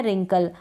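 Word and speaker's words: wrinkle: ring कल क्या है रिंकल अब यहां पर आपको ध्यान रखना है आर आई एन से पढ़ रहे हैं हम रिंग लेकिन इससे पहले आपको डब्लू लगाना है डब्लू साइलेंट है याद रखना है जो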